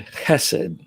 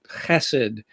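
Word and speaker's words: chesed: s e d but i'm pretty sure that the hebrew translation has that guttural to start it um that so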